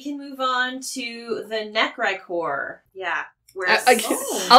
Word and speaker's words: Necrichor: Well, we can move on to the Necrichor. Yeah. I like how I read it Necrichor, but that's fine. I have been given the phonetics on this creature. Necrichor.